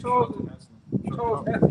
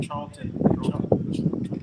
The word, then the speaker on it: Charlton Heston: Charles Heston. Charlton.